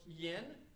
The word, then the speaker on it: Yen: Yen, just like Japanese money.